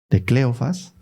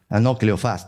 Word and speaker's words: Cleofás: María, la mujer de Cleofas, que estaba, tiene acento en la, Cleofás, tienes razón, de Cleofás, y que estaba con María Magdalena cuando estaban crucificando a Jesús.